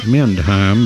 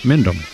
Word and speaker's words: Mendham: So runner at third and 2 outs, and now here's Mary Helen Mendham, which looks like Mendheim, but some silent letters in there. Mendham.